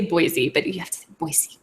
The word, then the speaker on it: Boise: not a native it's it's boyy with a very soft are you serious so you have to say boyy boyy boyy but is it is where is the emphasis on the salable is it boyy or is it Boise boy it's the where do you do you hit the B boy you hit the B boyy exactly and so it's like